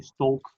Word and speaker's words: Stolk: In Dutch we say Stolk, but it's really hard to pronounce in English.